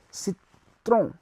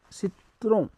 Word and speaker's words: citron: So to lemon we will say citron, citron, C-I-T-R-O-N, citron.